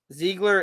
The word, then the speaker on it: Ziegler: Ziegler is how it's pronounced, my brother. Oh, Ziegler. Oh, not Ziegler.